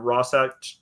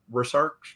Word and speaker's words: Rorschach: It can be a good kind of Rorschach test. I'm not pronouncing that right. Rorschach.